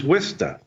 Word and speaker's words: Worcester: Or if you want to be really authentic, the way you pronounce it from when you're from Fitchburg is Wista.